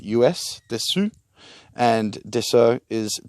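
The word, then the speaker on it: dessous: and the being the lower part the upper is spelled d e double s us desu and deso is d e s o u s so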